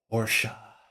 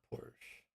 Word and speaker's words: Porsche: I'm a good boy Porsche not Porsche I care about pronunciation which Porsche does they have a video on their YouTube of them pronouncing it just so you get it right Porsche takes the exact